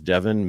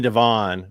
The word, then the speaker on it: Devin: Yeah, it's one of those where it's spelled anywhere from Devin to On to An and everything in between. And I'm just like, nope, it just is Devin like it looks.